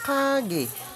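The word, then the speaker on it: 가게: Ang basa dito ay kage. Okay. Dahil nasa second syllable siya, magiging letter G daw po ang kanyang sound value kaya binasa po siya ng kage.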